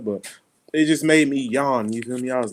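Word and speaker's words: yuan: going on out there it's called y-a-u-n in china say yawn currency there we go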